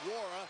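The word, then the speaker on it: Nwora: Wara's got 12.6 rebounds and that assist. The N in his name is silent.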